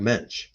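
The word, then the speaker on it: Moench: corners of panels uh not doug monkey doug mensch that's right that's how you say his name mensch doug mench wrote this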